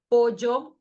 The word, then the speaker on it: pollo: Double L, double L is pronounced like Y, as in yam. Pollo, bella. And then double R, if